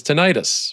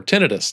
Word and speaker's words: tinnitus: I heard the technical term for that is tinnitus or tennitus, depending on how you want to pronounce it.